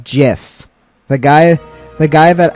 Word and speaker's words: GIF: okay that works yep like the peanut butter that's actually how you